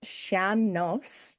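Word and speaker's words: sean-nós: the Irish music tradition of is it pronounced sha nas meaning old or old style? How do you say that? Is that how you say it? Sham. Yeah. Sham no, which means old style.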